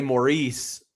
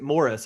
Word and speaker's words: Maurice: But like it's you know, we would say Maurice is his name, but everybody pronounces it Morris. I wonder if that is a British thing. But like Sometimes they hit Maurice a little harder, but most of the time it's Morris. But I probably just certain